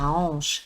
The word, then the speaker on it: hanche: واخا كاين هنا H ما كنطقوش به كنقولوا la hanche. C'est un H muet.